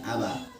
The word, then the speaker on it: abah: Kalau di Qiraati mah kan seperti contoh kalimat abah ya abah itu kan kalau di lidah Sunda mah abah gitu ya. Jadi ada kesan komanya. Kalau di Qiraati nggak boleh seperti itu. Abah langsung cepat langsung. Jadi langsung diputus, langsung dilepaskan gitu. Jangan ada kesan koma. Abah, abah. Seperti itu bacanya.